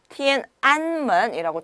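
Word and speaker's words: 天安门: 그래서 티엔안문이라고 정확하게 발음을 하셔야만 합니다.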